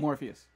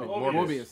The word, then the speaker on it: Morbius: But fuck, how you say his name? Morpheus. No, Morbius. Mobius.